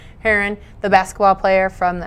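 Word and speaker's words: Herren: Yeah, you said it right. H-E-R-R-E-N. Heron, the basketball player from the NBA, former Celtics player, is coming to Auburn.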